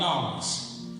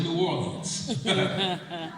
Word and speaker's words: New Orleans: Where I'm from, we got a place called Nolens. Some people pronounce it as New Orleans.